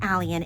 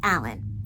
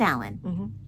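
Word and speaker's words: Alleyn: the Y is silent. Yeah. Because she says it's pronounced Alan.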